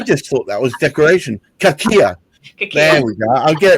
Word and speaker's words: Cachia: It's phonetically spelled there. I just thought that was decoration. Cachia.